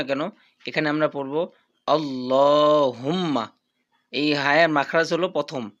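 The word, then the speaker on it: اللَّهُمَّ: তো যেটাই হোক না কেন এখানে আমরা পড়বো আল্লাহুম্মা।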